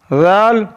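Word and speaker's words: ذال: Zal is pronounced from the top of the tongue and the inner edge of the upper teeth.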